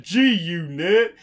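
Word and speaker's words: G-Unit: white kid go 222222 gee you knit and totally not hearing the g and thinking it's a tee oh and i think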